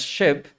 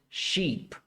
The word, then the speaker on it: sheep: Don't pronounce it एज शिप because when you pronounce it as ship, the spelling will change and it will be SHIP. Okay, so please make sure that you don't pronounce it as ship, it is sheep, right?